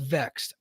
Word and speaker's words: VXT: I know they're called Vexed. I understand this, but you don't get me to pronounce a vowel unless you give me a vowel. I'm sorry. It's VXT. Sorry. Well, that's how these things work. When you neglect the vowel, you're supposed to do the consonants together and pronounce the word.